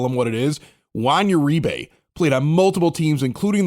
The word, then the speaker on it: Uribe: We've always known him as Juan Uribe. He goes to the Giants and they're calling him Uribe.